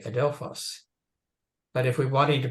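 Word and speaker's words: ἀδελφός: yeah with the act with the emphasis on the last one because that's where the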